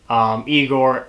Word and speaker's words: Igor: his bug-eyed hunchback assistant Igor or I Gor as he wants it pronounced played by marty Feldman